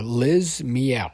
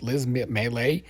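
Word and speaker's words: Liz Miele: I like uh uh Liz Mel I think that's how you say her name Liz l i z m i e l e she is hilarious Liz melee she's this um I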